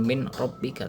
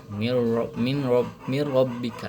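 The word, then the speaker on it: مِن رَبِّكَ: Nah, itu bacanya bukan min rbika tapi mirbika. Nah, dileburkan nun sukunnya kepada ro. gitu.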